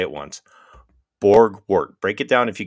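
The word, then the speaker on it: Borgwardt: Borgwart. Break it down if you can't pronounce it initially.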